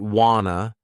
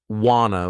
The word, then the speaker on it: wanna: Some people pronounce it wanna, others wanna with more of an O sound. Some use awana as an alternative.